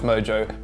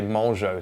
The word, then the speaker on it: Mongeau: Our second story, Tana Mongeau, and I know it's pronounced Mojo, but I also know that it really annoys you when I say Mongeau, so I'm gonna keep saying Mongeau.